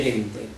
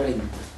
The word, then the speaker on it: dente: dente e diente rotacismo si scrive dente Esatto si legge rente noi pronunciamo rente ma si dovrebbe scrivere